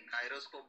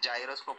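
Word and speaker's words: gyroscope: गायरो Hindi English Hindi Marathi काय नाही, गायरोस्कोप बोलतात त्याला, जायरो नाही बोलत। नाही नाही तुझं म्हणणं कशा बरोबर सांगा, ते स्पेलिंग काय जीवाय आर ओ एस टी S spelling वरती नाही बोलत आहे, पण ते जायरोस्कोप नाही बोलत, गायरोस्कोप बोलतात।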